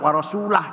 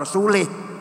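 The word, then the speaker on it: وَرَسُولُهُ: dan tidak melindungi rasulnya eh salah yang benar bacanya Innallaha barium Minal musyrikinaul lah Allah tidak melindungi orang musyrik rasulnya pun tidak melindungi orang musyrik warasulah jangan warasulih lahirlah ilmu Nahwu Siapa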